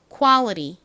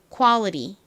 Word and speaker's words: quality: 미국식 발음은 좀 다르다고 설명을 드렸는데요. 어떻게 다른가요? 먼저 여기서 A가 소리가 납니다. 그래서 보다는 에 가깝게 발음이 납니다. 퀄. 그리고 T가 티읕 발음보다 리을 발음으로 나는 경우가 많아요. 미국식 발음에서는. 그래서 quality 이렇게 발음을 합니다.